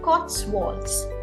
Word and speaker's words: Cotswolds: so correct me if I'm wrong is it pronounced as Cotswolds yes okay all right and this is a